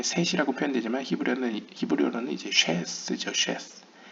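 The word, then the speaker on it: שת: 우리가 한국어 성경에 셋이라고 표현되지만 히브리어는 히브리어로는 이제 쉐스 쉐스 그 쉐의 앞 글자인 신을 담고 있고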